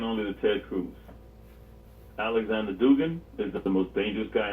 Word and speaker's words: Dugin: So it's spelled Aleskandr. Dugin.